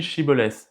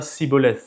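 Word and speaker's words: שיבולת: Normalement en hébreu ça se dit chibolet mais les effraémites avaient un accent et ils prononçaient ça sibolet avec un s et donc à chaque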